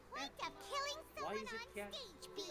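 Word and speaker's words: Jeht: Is this like how Jet's real name is actually Het? And yeah, I'm surprised with that, by the way. Jet from the Virgin Kiss Quest, or they call it the Super Quest, is actually pronounced Het.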